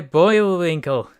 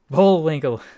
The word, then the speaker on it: Bullwinkle: onto it whether they do to my boy boy will Winkle Bullwinkle sorry I mispronounced it first and here's another scuffed Photoshop